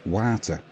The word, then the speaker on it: Warta: And anybody who's thinking, it's not Warta, it's Warta. It's not. It's pronounced Warta. You can trust me.